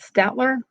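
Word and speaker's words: Staedtler: And then I got a set, a larger 12 color set and they were, I think you pronounce it Statler.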